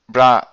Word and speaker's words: bra: the Born rule as brackets, as, and you pronounce this here, bra psi ket psi, sort of.